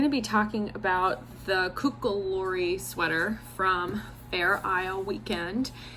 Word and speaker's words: Kokkaloorie: installment of the pronounced cocklery i should know that um it's kind of embarrassing but that's a shetland dialect word and i don't speak a shetland dialect so it's spelled like